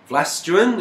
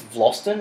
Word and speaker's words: Vlastuin: Vlastuin, is that how they say it down there? I think it's Vlosten.